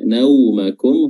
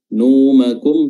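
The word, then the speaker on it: نَوْمَكُمْ: Ya, naumakum huruf waw di sini sukun dan dia memiliki sifat lin, ya, sifat yang lunak, lentur dan mudah dilafalkan dan diucapkan. Nau bukan numakum, tapi na dulu tak fathah, nau.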